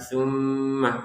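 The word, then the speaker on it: ثم: Nah, di sini kata tummah baru kita tekan dan apa namanya? Dengungannya dua harakat. Jadi ditekan plus dengungan juga dua harakat. Tumma tumma. Jadi jangan sekedar tumma tumma gitu ya. Tapi tumma ada di rongga hidung kita itu apa? Dengungan yang kita rasakan ketika mengucapkan tummah begitu ya.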